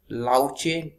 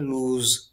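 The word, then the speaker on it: louche: अगला वर्ड है, इसको आप प्रोनाउंसिएशन लाउचे न करें, इसको प्रोनाउंसिएशन अलग तरीके से किया जाता है, इसको प्रोनाउंसिएशन किया जाता है लूज लूज लूज, आप इसको लाउचे प्रोनाउंसिएशन ना करें।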